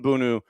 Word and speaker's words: Bounou: And this is Yassine Bounou and Chukwueze. Yassine Bounou, Bono. It's Bono technically, but it's spelled Bounou.